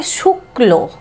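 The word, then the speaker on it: শুক্ল: ताहले उच्चारणटा कि हबे शुक्लो। ताहले एखाने देखछि कयेर उच्चारणटा किन्तु एकटु जोर हच्छे, शुक्लो, बा बोलते पारो कयेर उच्चारणटा जेनो दुबार हच्छे, दुबारेर मतो शुनते लागछे, ठीक आछे?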